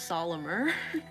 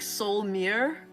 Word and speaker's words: Solymer: of your stream but i don't think his name is solomor there's no like a in between the l and the m like i've been pronouncing it's like soul mirror yeah i think something